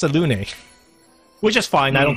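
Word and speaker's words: Selûne: So I've always pronounced it as Saloon, and then now I found out it's pronounced Salune.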